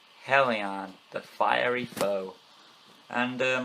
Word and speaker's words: Helion: Hey guys, welcome back to Beast Quest, Series 7, Book 2, Helion the Fiery Foe.